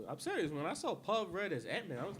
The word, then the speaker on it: Paul Rudd: I mean, he was funny in Paul Rudd? Anchorman. I was like, It rhymes with Elmer Fudd.